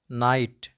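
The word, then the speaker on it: knight: the words which commence with cairn then k is not pronounced let's go with some relevant examples like no no knee knee knit knit night night knock knock neck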